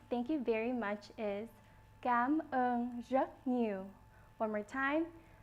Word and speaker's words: cảm ơn: Thank you in Vietnamese is pronounced cảm ơn. One more time, cảm ơn.